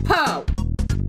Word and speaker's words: Poo: I have pronounced it po apparently some people are like pronounce it poo I'm like no I pronounce it po I mean look at the little thing on top of his head it's Po and now we get